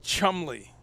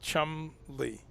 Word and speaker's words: Chumley: yeah, it's Chumley. Really, just two syllables, Chumley. Wait, come on. Yeah, Really? yep, Chumley, Okay, all and right. it's English slash French. Those languages go back and forth, as Right, you right. know, and both of them have a bunch of syllables you skip over.